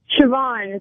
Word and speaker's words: Siobhan: up hi how do you say your name Siobhan Siobhan yeah all right it almost has